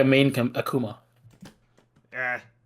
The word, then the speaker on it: Akuma: It's not like a main Akuma. Yeah. Or Akuma, as it'd be pronounced in Japanese.